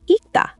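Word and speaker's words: 읽다: Ilta means to read. It has ril at the bottom, ril and g. Since ril is an exception, we pronounce the right one, g. So ilta sounds like ikta. Ikta, so the ril just disappears?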